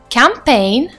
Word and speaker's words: campaign: but I'm saying Galan next word campaign look at the spelling and listen attentively the pronunciation campaign and last word sign